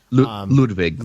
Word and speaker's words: Ludwig Göransson: Yeah, Ludwig.